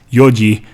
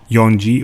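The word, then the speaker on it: 四時: K less four o'clock physicists pronounced yo G not young G or GG you also need to make sure that you state if it's a.m.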